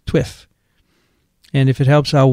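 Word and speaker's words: TWiPH: week in public health pronounced twiff t-w-i-p-h twiff and if it helps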